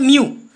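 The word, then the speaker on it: mu: Greek letter होता है म्यू, इसको हम लोग रिफ्रैक्टिव इंडेक्स को कहते हैं, और इसका MEW म्यू इसको क्या प्रोनाउंस करते हैं? म्यू।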